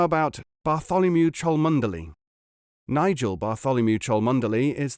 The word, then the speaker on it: Bartholomew: You pronounce that Bew, I suppose?" "No, you do not. You pronounce it Bartholomew.